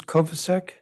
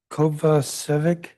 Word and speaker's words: Kovacevic: Liz Kovacevic? Kovacevic, but you're close. Not even close. It's okay. It's mispronounced all the time. But thank you for having me here, Chairman Mendelson. My name is Liz Kovacevic, and I'm a licensed